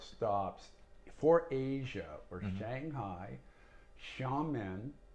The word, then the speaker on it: Xiamen: for asia or shanghai xiamen it's spelled with an x to start with and that's like i